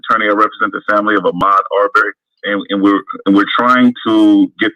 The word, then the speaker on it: Ahmaud Arbery: And correct me if I'm mispronouncing the brother's name. Ahmaud Arbery. That's it, Ahmaud Arbery.